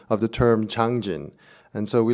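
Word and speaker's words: Changjin: is mostly this battle is known as the Chosun reservoir war the battle the Joseon reservoir but chosen is the Japanese pronunciation of the term changjun and so we like to call it changjun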